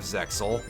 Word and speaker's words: Zexal: I've I've heard of Zexal I've never seen any of uh any of it I believe that the x is supposed to be silent so it's supposed to be like pronounced like Zeal but I mean you